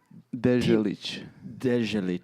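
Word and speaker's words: Deželić: Tino Dezelit. Almost. Can you try again? Sorry, just try one more time. Dezelit.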